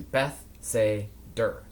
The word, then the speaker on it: Bethsaida: I live just outside of a small village called Bethsaida. I can never pronounce it properly, so I always split it into Beth-say-der so that I remember it better.